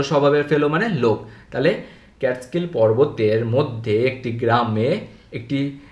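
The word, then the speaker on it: Catskill: মধ্যে এমং ক্যাটকিল মাউন্টেনস এটা উচ্চারণ দেখবে ক্যাট স্কিল ক্যাট স্কিল ওকে ক্যাটস্কিল মাউন্টেনস ক্যাটস্কিল মাউন্টেনস তাহলে ক্যাটস্কিল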